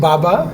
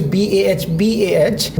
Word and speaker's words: Bah: Hill, two meeting with Baba, though the pronunciation is BAH, which means the brother, who is living in